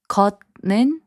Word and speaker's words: 걷는: 걷는, which means walking, is pronounced as 걷는.